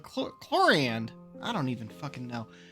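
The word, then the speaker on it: Clorinde: I can understand her name being pronounced Chlorand, or Chlorend. But it's spelled Chlorind. They keep saying Chlorand. And the way Navia just pronounced it was so far off that, like, Chloriand.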